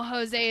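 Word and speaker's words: José: lien because I know Jose is spelled with a J but it's pronounced with an H and like when you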